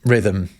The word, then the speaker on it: rhythm: Point is, the H in rhythm, it isn't really doing anything.